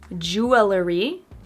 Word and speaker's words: jewelry: Number six, jewelry. Not jewelry, but jewelry. Jewelry. So we cut out an extra syllable there.